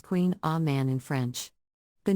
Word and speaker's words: Kouign Amann: variation on a traditional pronunciation Queen Amon is pronounced Queen a man in French the name can be a bit